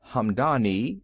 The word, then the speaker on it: Hamdani: Every one is pronounced exactly as it is spelled, and the accent is always on the last syllable but one, as Punda, the donkey, Hamdani, etc.